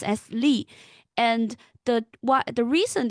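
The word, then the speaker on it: 栗: uh chestnut and it in Chinese it it pronounced as lee and the What the reason they use that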